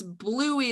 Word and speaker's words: Bluey: just so people know it's bluey like the color right like yeah you spell it it's b l u e y right because right first time i heard what it was called i thought it was louis anyway just wanted to